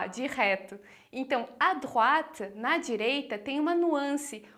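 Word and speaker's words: droite: falar go depois a drat que a pronúncia de drat você tem que lembrar que o oi vai fazer som de A então a gente vai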